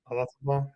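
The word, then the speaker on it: Olazábal: I remember seeing Jose Marie Olazabal. Is that how you pronounce his last name? Olazabal.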